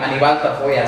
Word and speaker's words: Anibal Tafoya: So your full name is pronounced how? So full name Anibal Tafoya.